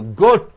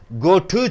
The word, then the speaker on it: goat: goat, go to சொல்லக்கூடாது.